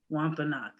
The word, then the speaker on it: Wampanoag: And we say it differently because we have different accents on our Wampanoag. That I was actually about to ask that because I realized you seem to pronounce the A in the Wampanoag.